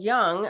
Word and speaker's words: Jung: so when we fast forward to say Carl Young um this is or Jung you know however you would like to pronounce that Carl Jung uh basically had a